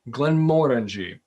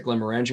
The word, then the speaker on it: Glenmorangie: can hear that but the that's the real pronunciation Glen moreni um it's tempting is very tempting to pronounce it Glen marangi and as a matter of fact nearly everyone